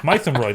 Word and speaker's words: Mytholmroyd: Probably pronounced like Maidenhead. Mythomroid, apparently.